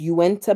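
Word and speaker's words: Uinta: Alexa, how do you pronounce ui na? She just she just gives up. Okay. She says, "It's Uwenta Mountains.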